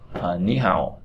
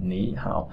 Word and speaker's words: 你好: cửa, tí y cửa, ni hao, là ni hao. Thực ra là ni hao nhưng mà ta sẽ đọc là ni hao, biến âm.